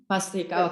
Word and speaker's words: Bhastrika: Mitika, what's the pronunciation? I never know if you're still there. Yeah, Kapalabhati and Bhastrika. Bhastrika, okay.